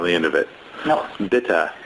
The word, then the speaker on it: bitte: end of it no bitte it's like Susannah and E in the end is always this sound okay Andy in the end of any words in German bitte and that's that's